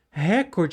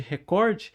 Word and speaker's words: recorde: Você concorda que é uma ação absurda o Ministério Público Federal processar a Globo por causa que a Globo fala recorde ao invés de recorde, exigindo norma culta?